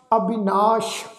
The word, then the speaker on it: अविनाश: अविनाश सस्से दे पैर विच बिंदी लगा के उच्चारण करांगे, क्योंकि ये शब्द का जो अर्थ है वह जी अविनाशी, जिसका नाश नहीं किया जा सकता।